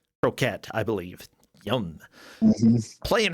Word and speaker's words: Kroket: We've got Dobby Croquet. Yeah. Hello, Allison, Mr. Zimbu, and Viralex. Or is it Croquette? It's pronounced like the food. Croquette, I believe.